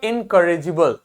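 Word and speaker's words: incorrigible: जे है यहां पे जी को गा नहीं पढ़ेंगे, इनकरेजिबल नहीं होगा, क्या होगा, जे लिखा है, मतलब इनकरेजिबल, ठीक है।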